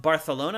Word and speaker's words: Barcelona: production finally by Ubisoft Barcelona I believe sure and I hate saying Barcelona like that but apparently that's the correct way to say it so um so that